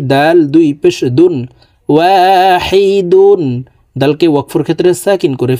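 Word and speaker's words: واحد: ওয়াহিদে, দাল যেহেতু কলকলার হরফ, নিচের দিকে ধাবিত করে ধাক্কা দিয়ে উচ্চারণ করতে হবে।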